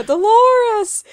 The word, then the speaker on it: Dolores: laura's out the window yeah dolores um which rhymes with clitoris so i just thought